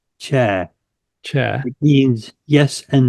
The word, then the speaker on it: tja: We have a wonderful word in Danish, spelled TJA. is pronounced cha.